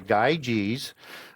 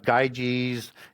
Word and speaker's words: Gyges: understand why you have Gyges and Gyes with that sound. It's just whatever vowel follows that G dictates the sound as a Y or a hard G in Greek. So plural for Gyges is Gyes, as giants.